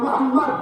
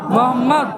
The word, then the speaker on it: মোহাম্মদ: উচ্চারণ করুন মোহাম্মদ মোহাম্মদ খেয়াল করে দেখুন নবীর নাম নিলে দুই ঠোটে ঠোট ঠেকছে বলুন মোহাম্মদ মোহাম্মদ আমার নবীর নাম চুমা না দিয়ে পৃথিবীর